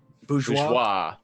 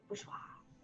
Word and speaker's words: Bourgeois: That's Pronounce it however you want to pronounce it, and that is how it should be pronounced. Bourgeois.